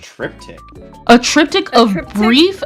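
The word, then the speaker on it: triptych: a try a trip a trep pronounced trip tick a trip tick of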